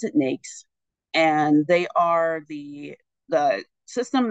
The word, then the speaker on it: NAICS: It's NAICS, but we pronounce it NAICS.